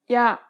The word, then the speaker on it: 야: 아, 야, This small stroke adds a Y sound to the beginning of the original sound. Compare the pronunciation of these 2 letters once again. 아, 야, When you say this letter, don't pronounce the Y sound for too long.